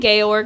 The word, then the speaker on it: Georg: But the, I'm here for Georg, not those kids. Georg. Thought it was George the whole time. Yeah, they. You did? I mean, it's spelled G E O. But they were saying Georg a lot.